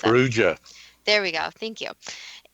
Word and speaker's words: Perugia: Dad, do you want to pronounce that? Perugia.